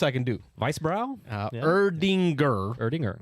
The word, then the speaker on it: Erdinger: I'm too much melanin in my skin to pronounce that. Help me out. The Erdinger Oktoberfest? Oktoberfest I can do. Weissbrau? Yeah. Erdinger. Erdinger.